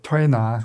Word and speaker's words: Tuina: So it's not just acupuncture, it's acupuncture, herbs, Tuina. Am I saying it right? Tuina.